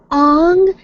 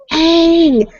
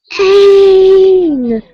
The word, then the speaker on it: Aang: and in the movie you call him Ong. They clearly say his name is Aang. Aang! It's okay, and you're like, oh, Ong! Like, can you... In the English language, there are different ways to pronounce vowel sounds, especially double vowel sounds. It's not, ah!